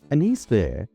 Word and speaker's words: anis vert: Anise there or green anise in French is spelled a n i s and ver v e r t there being the French word for green.